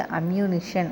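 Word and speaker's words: ammunition: Next வந்து அம்யூனிஷன் இத வந்து எப்படி பிரிக்கலாம்னா am எம் எஐநிடிஐஓ ஷன் இத வந்து சேர்த்து அம்யூனிஷன் அப்படின்னு நம்ம சொல்லலாம்.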